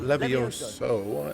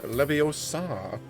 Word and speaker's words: Leviosa: right never your soul it's not levioso Leviosa Hermione is going to